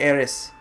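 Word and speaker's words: Aerith: controversy with her name supposedly the intended spelling is i-th but it's pronounced the same way in Japanese and also I guess in English you're supposed to say Eris so seeing as this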